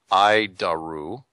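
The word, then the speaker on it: ADIRU: data initial reference unit we pronounce it I daru iaru it's a horrible name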